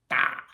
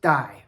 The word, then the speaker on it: 大: It can sometimes be pronounced dai. For example, daifu is doctor, but that's a mainland Chinese term. We say yisheng here in Taiwan. 99% of the times, this character is pronounced da.